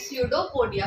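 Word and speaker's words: pseudopodia: तो temporary projection बनाता है, that is स्यूडोपोडिया, P silent है यहाँ पर, और अपने फूड को कैप्चर करता है।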